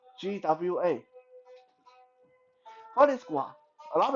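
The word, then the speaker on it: 剐: Gua, just one word. Gua. GWA.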